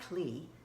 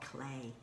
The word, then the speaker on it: Klee: In Switzerland, they pronounced his name Paul Klee, but in America, in English, we will say Paul Klee.